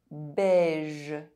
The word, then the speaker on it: beige: EI is pronounced E if followed by a pronounced consonant in the same syllable. 16. Beige.